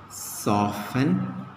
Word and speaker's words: soften: Okay, T as silent. We can write often. Fasten. Mortgage. Here T should be there. Mortgage. Soften. Okay, in all these words, we clearly see that T is silent.